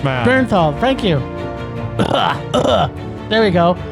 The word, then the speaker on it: Bernthal: You're putting too many uns. Too many syllables, man. Bernthal, thank you.